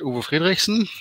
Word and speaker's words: Uwe Friedrichsen: name is already said uber friedrichsen um never try to pronounce that if you're not coming from germany or a country which has a similar odd language as we have anyway and if you